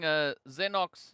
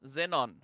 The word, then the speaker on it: Xenox: In the meanwhile, it does seem like I've been calling Xenox XENON. I mean, it's a zzz sound either which way.